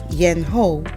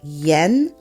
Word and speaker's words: Yɛn: Yen which sounds like Yen ye e h n again the E is like the e in bed and the final word